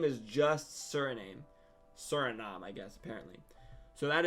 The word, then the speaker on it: Suriname: is called Suri name Suriname I don't know how to pronounce it actually let me look that up interesting Suriname so that's what it that's how it's pronounced however it looks like